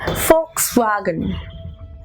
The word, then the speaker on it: Volkswagen: it is not works wagon it is actually Fox wagon so now you must be punished oh my